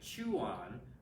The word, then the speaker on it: Chuan: The last word is pronounced like you're saying Chuan, but fast.